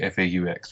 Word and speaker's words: faux: because i've heard it both ways okay it's pronounced fo it means false in in french yeah i